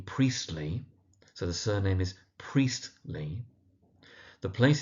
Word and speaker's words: Priestley: So, Meggarty, with the emphasis on the first syllable. Now, the author's name is J.B. Priestley, so the surname is Priestley.